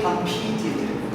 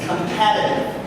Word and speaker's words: competitive: But when you say this is a verb, but when you want to talk about an adjective, we don't say competitive. No, it's competitive.